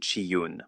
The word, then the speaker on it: Chiun: » Remphan est un autre nom pour le dieu Chiyun, prononcé Chiyun, mentionné dans Amos 5,26.